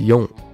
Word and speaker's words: よん: 两个读音，一个是用，一个是西。